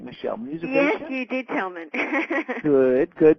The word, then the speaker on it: Musivation: In addition to creating the Musivation, did I pronounce that right, Michelle? Musivation?